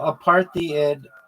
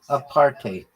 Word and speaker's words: apartheid: It's pronounced a partate or a partate with a bit of a Dutch style hide at the end like height with a D.